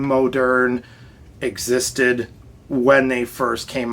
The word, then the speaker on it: Moderne: had a very modern, which it gets mispronounced a lot as modern, but it's Moderne, so most people agree that it's Moderne.